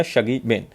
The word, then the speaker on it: Shuggie Bain: The exact pronunciation is the Shuggie Bain. Remember this.